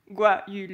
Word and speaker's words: guayule: même mes chefs ils ont du mal à prononcer guayule eux et cette plante est produit une grosse